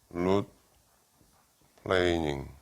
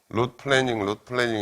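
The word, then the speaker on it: root planing: 영어로 룻 플레이닝, 룻 플래닝 이렇게 발음하는데 그건 틀렸고 룻 플레이닝, 플레인 어떤 평면이라는 플레인이라는 게 동사로 쓰면 이렇게 평평하게 하다 뭐 그런 뜻이거든.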